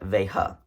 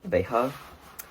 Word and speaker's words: Veja: So the J in Spanish is pronounced like an H. So I pronounce it Beja, even though I know that's not right. But I think it's pronounced Beja. I think you actually pronounce the J, but I'm just going to pronounce it Beja because I think it sounds better.